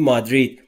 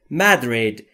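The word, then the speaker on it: Madrid: از مدرید یعنی مادرید ما در فارسی بهش میگیم مادرید ولی در انگلیسی تلفظش به این صورته مدرید یعنی مادرید پایتخت اسپانیا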